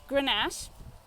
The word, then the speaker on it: Grenache: another of those words we've learnt how to pronounce this is so it's Grenache this is such a great Grenache but you